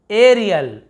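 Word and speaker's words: aerial: फिर देखिए एरियल, एरियल यहाँ पर भी क्योंकि र है तो है ना, आपको बताया था एयर, एयर ऐसे होगा। देखिए एरियल, तो एयर टाइप उच्चारण हो रहा है, एरियल यानी होता है हवाई।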